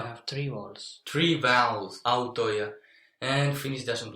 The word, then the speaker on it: autoja: So instead of having the three vowels there together, the I changes to J. Autoja. Autoja. Autoja. Even if you try to pronounce it with an I, it sounds a little bit like J. Autoja.